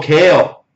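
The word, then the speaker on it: Cale: Oh, kale. It's like a vegetable.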